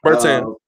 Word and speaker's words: Bertans: How do you pronounce the young man's name? Bertans.